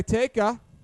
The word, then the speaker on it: Teka: Shot by Teka. Like I was tweeted at, rhymes with Rebecca.